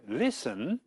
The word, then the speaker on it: listen: but not pronounced and in listen the t is written but not pronounced Mrs Ben is going